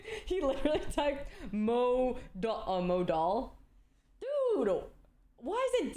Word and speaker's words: modal: Crystal Dy cotton model modal modal modal Crystal die cotton modal I said it wrong he literally typed Mo mod doll dude why is it D fine mod doll I said it wrong again okay Crystal I'm Crystal